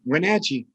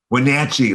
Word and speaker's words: Wenatchee: Matt is the pastor of Trinity Episcopal Church in Wenatchee. It feels like there should be another syllable in there, but is that how you say it? It's pretty good. Wenatchee. Wenatchee.